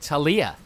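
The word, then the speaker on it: Taliyah: Talia not quite sure how they want to pronounce it uh not according to um mortdog Mort dog said Talia more dog said Talia more dog said Talia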